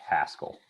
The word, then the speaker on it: Haskell: but yeah right um were you saying pascal or haskell uh it's the one that makes less sense the one with an h haskell a lot of people say that name wrong that's a language i